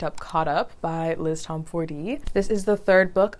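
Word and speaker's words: Tomforde: pick up something by Liz tomford or I heard it's actually pronounced Tom Ford So currently I'm in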